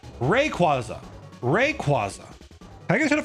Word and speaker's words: Rayquaza: Rayquaza is how I pronounce it. Rayquaza. Rayquaza. And this follows the stress patterns that I just described of the third to last syllable being the stressed syllable. Rayquaza.